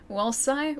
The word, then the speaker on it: Walsa: How do you actually say your handle properly? Walsa.